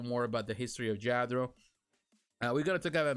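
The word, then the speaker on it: Lladró: We're going to talk about Lladro Collectibles, also known in the English pronunciation, we might call it Lladro, but it's Lladro.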